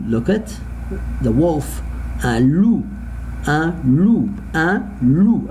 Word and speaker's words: loup: I don't pronounce the letter P. So here, un loup, O and U together all the time. When I see it, I pronounce it as two O, I say like in English. So I say O here, loup.